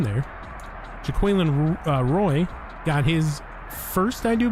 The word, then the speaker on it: Jaquelin Roy: 2 by Daniil Hunter, Harrison Phillips, Jaquelin Roy, official pronunciation, not Jacqueline Waugh.